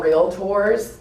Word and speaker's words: Realtors: we are real tours it is a two syllable word and um I hear so much thank you and it you know it drives me crazy when I hear R and um you know it kind of makes me wonder sometimes like do you know what you are I mean just it's just two syllables real tour so anyway let's all